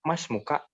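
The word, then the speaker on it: اسمك: ini tidak dibaca itu Hamzah ini tidak dibaca makanya kita bilangnya masmuka itu hamzahnya tidak di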